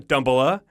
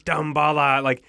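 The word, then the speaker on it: Damballa: It's not Dumbala, it's Dambala.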